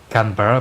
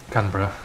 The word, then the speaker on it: Canberra: Canberra, yeah. You just Canberra, yeah. You don't say the vowels between the B and the R.